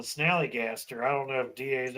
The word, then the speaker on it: Snallygaster: Because remember, Wild Bill called it the Galley Snatcher instead of the Snallygaster. That's right. Galley Snatcher. Because they were talking about the Snallygaster and he couldn't say it right. He kept saying the Galley Snatcher. And they're like, "No, Bill, Snallygaster. That's what I said."